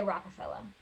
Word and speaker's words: Rockefeller: Oh, I was spelling it in my brain like Rockefeller, like Rockefeller Plaza. Yeah. But you just say it like. But I just say Rockefeller. Okay. I got a little bit of a New York accent.